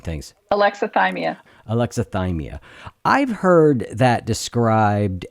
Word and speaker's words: alexithymia: But I wanted to talk a little bit more about, did you say it's alexithymia? Thymia? Say it. I'm terrible at pronouncing things. Alexithymia.